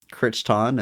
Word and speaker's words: Crichton: Um, I had a Michael Kiteon phase sometime in high school.